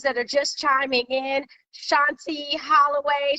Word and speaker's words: Shantí Holloway: are just chiming in shanti holloway chante holloway i'm saying it wrong i'm sorry but you know why because every time you look at my name you automatically say shanti so if it's cool